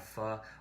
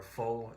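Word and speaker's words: phở: And one of the things I did was I had pho or pho, depending on how you pronounce it, which is a Vietnamese noodle soup.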